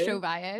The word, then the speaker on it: Ovalle: Josh Ovalle.